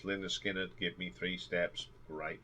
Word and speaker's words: Lynyrd Skynyrd: from the debut album pronounced Linda Skinner give me three steps